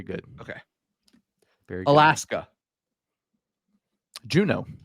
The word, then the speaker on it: Juneau: Juneau. Juneau. Yeah. Spelled. Remember, my mom would tell me it's spelled June AU, like your birthday month in Right.